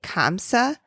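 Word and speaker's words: khamsa: its translation is it's spelled KH MSA kamsa like Karma kamsa okay the hand okay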